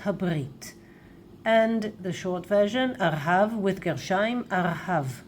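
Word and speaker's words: ארהב: In Hebrew, we use Gershayim, always Gershayim, and we also pronounce it like Arhav. Of course, you can say Artzot Habrit, right? The United States of America, Artzot Habrit. And the short version, Arhav with Gershayim, Arhav, right?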